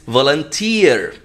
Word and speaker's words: volunteer: Which is वॉलंटियर, वॉलंटियर last में tier, वॉलंटियर, इट्स not that pronunciation, it's वॉलंटियर, tier, जैसे CAREER, career, not जैसे उसको कुछ लोग प्रोनाउंस करते हैं कैरियर। मैं अपना कैरियर सेट करना चाहती हूं या चाहता हूं, कैरियर नहीं होता, करियर।